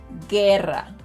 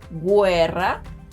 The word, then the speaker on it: guerra: In these cases, letters q and g silence letter u, but they need it to make those k and g sounds in front of letters e and i. If letter u were pronounced in these words, they would sound like qüeso, qüiero, güerra, and güiso. But those are words that don’t exist in Spanish.